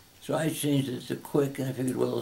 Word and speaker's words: Cwiek: So I changed it to Cwiek, and I figured, well, C, a hard C like in the word cat, the W, pronounce it as a W, I, pronounce it as